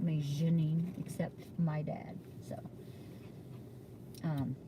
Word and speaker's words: Janine: So, it's actually Janine. My dad named me and he pronounced it that way. He wanted his daughter to have a French name.